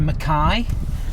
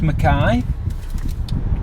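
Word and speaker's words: Mackay: So, we're now just on our way into Mai. Um, which is spelled McKay. Um, just saying, but it's pronounced Mai.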